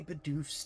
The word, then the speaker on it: Bidoof: You like lean on the B, not the doof.